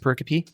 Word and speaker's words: pericope: I'm ready for the next pericope. Are you? Ooh. Verses 31 and 32. Hey, I said a word. She pronounced it right.